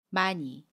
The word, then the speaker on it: 많이: 많이. 이번에는 조화를 볼게요. 받침 히읗과 모음 아가 만납니다. 그러면 좋아라고 발음해요. 받침 히읗은 발음하지 않고요.